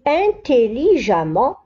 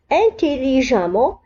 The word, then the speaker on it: intelligemment: مثل intelligemment, différemment. لاحظوا هنا أبناء الطلبة أنه intelligemment تكتب E, 2M, ENT ولكن ننطقها A. لا نقول intelligemment ولكن نقرأ intelligemment.